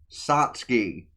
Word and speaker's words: Satsuki: Google put me to the wiki which says Satski. So like a matter of fact, let me just reook it up just because I like be saying it wrong the entire episode. Satski right right there.